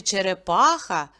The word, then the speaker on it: черепаха: склади і поставимо наголос в слові черепаха чотири Склади і наголос падає на третій голосний звук а черепаха слово чашка два